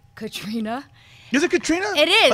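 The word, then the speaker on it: Caitríona: So an I-O sound together makes an E sound, so it's just Katrina.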